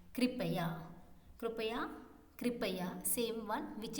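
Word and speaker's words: कृपया: Kripaya, kripaya, kripaya, kripaya.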